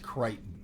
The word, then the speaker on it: Crichton: and it's based on Creighton is pronounced Creighton wrote the book it's